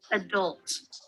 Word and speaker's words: adult: Adult. So American is, guys, American is adult. Adult. Yes. Adult. British is, but the British pronunciation is Adult. yes. See? Adult. Adult.